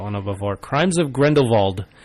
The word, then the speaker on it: Grindelwald: I have to say, I put Fantastic Beasts: The Crimes of Grindelwald. You messed that one up before. I did mess that one up before. Crimes of Grindelwald. I noticed in the film they all used a